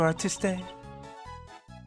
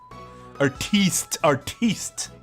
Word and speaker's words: artiste: And here you are, Monsieur Artiste. Is it artiste? You just the E is silent.